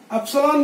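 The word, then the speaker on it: epsilon: ये जो एप्सिलॉन है बेटा, पहले आप समझ लो, एप्सिलॉन क्या उच्चारण करना है, एप सी लॉन।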